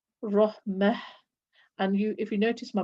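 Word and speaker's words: رحمة: So that's when I'm stopping. I will pronounce the ta as a ha when stopping. When continuing reading, I will pronounce it as a ta, ni'mat, rahmat, or ni'mata, ni'mat, and then continuing.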